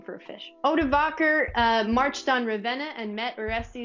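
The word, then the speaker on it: Odovacer: And the leader of these Germanic mercenaries was a man named Odovaker. And that is spelled like this. Add that to your list of baby names. O-D-O-V-A-C-E-R. Probably a good name for a fish. Odovaker marched on Ravenna and met Orestes in battle in North Italy.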